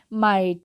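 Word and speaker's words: might: उसी तरीके से MIGST, माइट, ये थी एग्जांपल जिसमें GH साइलेंट होता है।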